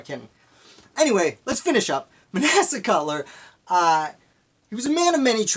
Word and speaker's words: Manasseh: Manasseh, I believe it's pronounced.